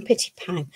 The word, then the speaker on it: Pitypang: Pitypang. Is that how you say it, Elizabeth? We call them Pitypang.